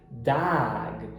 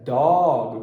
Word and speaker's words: dog: A pronúncia dog, como O do português, como da palavra pó, dog, ela até existe, mas não é nenhuma das pronúncias padrões do inglês, ok? Então, no inglês americano, a gente vai pegar o A de father e vai falar dag.